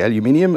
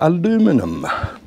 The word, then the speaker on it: aluminium: for my American friends I say aluminium and the reason is nobody ever seems to explain this we spell it differently to you guys we've got an extra eye that's why it's aluminium you miss that second eye so so your aluminum so that's the reason anyway so Burma bright